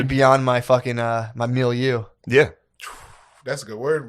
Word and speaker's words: milieu: beyond my fucking my milieu.